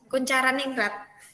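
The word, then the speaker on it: Koentjaraningrat: menurut Bapak konjara ningratini apa sih ini bacanya kuncara ningrat kcara ningrat ya itu bahasa Jawa ini bahasa Jawa bahasa Indonesia zaman dulu lah ya tulisan zaman dulu kita tuh kayak gini pakai tjtj apa kayak gitu nah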